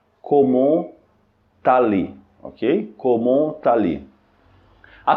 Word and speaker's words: comment allez: nós chamamos de lieson que é quando a pronúncia das duas palavras se conecta quando a primeira palavra